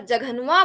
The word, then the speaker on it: जघन्वा: अगर जघन्वा बोला जाता है तो कह रहे हैं जघन्वा, इसकी आवाज कांसे के समान निकलनी चाहिए।